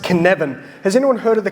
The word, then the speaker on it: Cynefin: This is pronounced Cynefin.